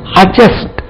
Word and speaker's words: adjust: invariably கிட்டத்தட்ட 98% D க்கு பக்கத்தில் J வந்தால் அல்லது D க்கு பக்கத்தில் G வந்தால் D உச்சரிக்க கூடாது. ஒரு half a dozen words பார்ப்போம். adjective adjust, கொஞ்சம் adjust பண்ணணும்ப்பா.